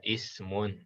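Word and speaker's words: اسمٌ: Nah, ini tidak ada harokatnya alif ya kan? Ya. Alif wasom. Nah, ini kita pakai i ya, ismun.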